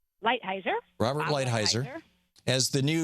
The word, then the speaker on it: Lighthizer: Lighthizer? Lighthizer.